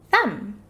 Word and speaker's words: thumb: the uh and the but did you know that it has a silent letter it does do you want to see what it is it has a silent letter at the end this silent letter is the b so even though the b is there it is completely silent there are a lot